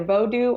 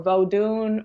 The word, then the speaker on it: Vodou: at the end and some people pronounce the n and some people don't pronounce the N so it could be either vodu or vodun or vodon you'll hear that often